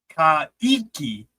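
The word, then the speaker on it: Kayky: So K A Y K Y is like Kiki.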